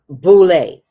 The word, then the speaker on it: boule: Boulay, but it's pronounced Boulay.